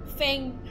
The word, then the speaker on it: Feng: Oh my god, you pronounce it like teeth fang. Fang. Oh yeah, it's Fang.